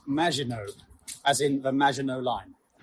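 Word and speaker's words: Maginot: It's pronounced Majinino as in the Majino line.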